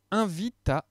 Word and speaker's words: invitation: Une invitation. Voilà un dernier exemple où le TI se prononce si.